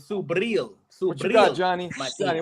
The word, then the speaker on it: Subriel: Hold on, Lo, you got to say it right. It's Subriel.